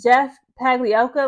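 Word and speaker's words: Jeff Pagliocca: Like, again, the general manager, how do you pronounce his name again? Jeff Pagliacca.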